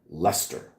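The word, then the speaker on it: Leicester: That longass name town that you guys just call Lester.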